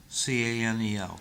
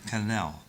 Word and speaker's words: Canel: And last week, President Miguel Diaz-Canel, C-A-N-E-L, Canel. Is that how you pronounce C-A-N-E-L?